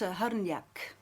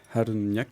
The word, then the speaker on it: Hrnjak: It's a Serbian name, and it's Hrnjak. Hrnjak.